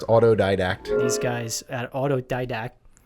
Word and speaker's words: Autodidact: So, it is pronounced autodidact.